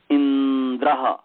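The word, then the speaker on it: इन्द्र: तो संयोग परे है, तो पूर्व में ई है, इसका नाम गुरु हो गया। इसलिए इंद्र वो लंबा गुरु की तरह उच्चारण होगा, वह उसमें थोड़ा लंबा होगा उच्चारण।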